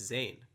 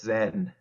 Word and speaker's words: Zain: if I'm wrong, but it's not actually pronounced Zane, right? That's right. Yeah, it's Zen.